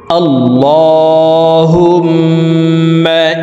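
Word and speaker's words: اللهم: আপনারা আমার সঙ্গে কয়েকবার বললেই দোয়ায় কনুত মুখস্ত হয়ে যাবে এবং সহি শুদ্ধ উচ্চারণ হয়ে যাবে। আল্লাহুম্মা আল্লাহ।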